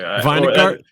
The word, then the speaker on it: Vinegart: Vinegart? That's how I pronounce it. Okay, cool. He's based it off of the word vinegar, but he's never corrected me when I call him Vinegart.